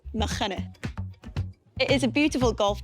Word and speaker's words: Machynys: Further along down the coast, more west, you have Nghymru Golf Course, which, yes, is pronounced Nghymru.